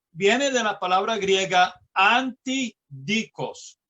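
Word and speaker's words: ἀντίδικος: de la palabra griega antidikos. Yo no sé si lo estoy pronunciando correctamente, lo estoy pronunciando como se pronuncian en español. Anti, las letras A, N, T, I, y luego dikos, D-I-K-O-S, antidikos.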